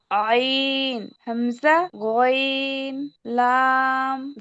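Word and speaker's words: غين: র জা সিন শিন সদ দদ ত র আইন গইন আচ্ছা আপু, গয়নের উচ্চারণটা আরেকটু গলা থেকে আসবে। গ, গইন। গইন হ্যাঁ, মাশাআল্লাহ। আমরা যদি গ বলি, গটা উচ্চারণ শক্ত, তো গইনটা একটু নরম হয়।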